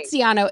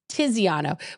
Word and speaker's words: Tiziano: Tiziano, it's Tiziano. But I like your pronunciation. That's not true. It's It's the- Tiziano. I've it's- literally had a fucking argument with him Yeah, about this. but I was like, is it tits? It's Tiziano. Tiziano.